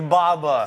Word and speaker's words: BABA: baba baba baba no there's no long a short a it's baba someone who's in english